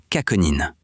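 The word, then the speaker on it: chaconine: These include solanine, pronounced solanine, and shakonin, pronounced kaconin.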